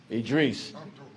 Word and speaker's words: Idris: Make sure I pronounce that correctly. Idris.